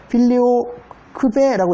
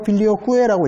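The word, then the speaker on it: filioque: 그래서 필리오 크베라고 읽을 수도 있고 필리오 쿠에라고 읽을 수도 있어요.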